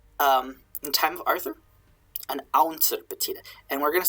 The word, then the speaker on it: awntyr: It's just kind of smushed into two syllables, awntyr.